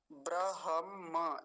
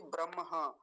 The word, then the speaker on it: ब्रह्म: फिर से देख लीजिए ब्रहम ऐसा बोलेंगे ना कि ब्रह मकार बाद में आता है यह वाला नहीं तो कई बार गलत उच्चारण क्या होता है ब्रह बोल देते हैं लोग ये गलत है सही क्या होगा ब्रहम म पीछे आता है ब्रह्म वर्च सम वर्च